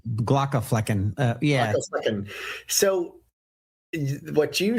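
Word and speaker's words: Glaucomflecken: Because I used to call him Dr. Glockenflocken. I don't think that's correct. Glockenflecken.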